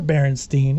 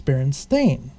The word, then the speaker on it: Berenstain: as well with everyone else however it's not Berenstein it's Berenstain yeah at least here it is now interesting